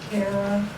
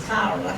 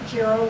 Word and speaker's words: Cara: We all say Carara cuz we live in Texas. It's actually Italian and it's Kyra.